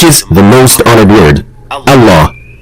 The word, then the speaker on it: Allah: When starting at the word Allah, lam will be pronounced slightly differently from all other words in Arabic. Specifically, it will be a full mouth lam, or as we call it in English, the dark L, as in the word luck.